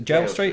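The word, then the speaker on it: Gaol Street: Malherbe, and it was is it Goal Street or Jail Street? It's the Jail Street, is that how you say it? Jail Street, but it's spelt Goal, isn't it?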